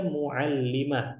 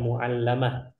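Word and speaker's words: مُعَلِّمَة: Wahia muallimah. Ini ikhwan, cara bacanya muallimah ya, bukan muallamah.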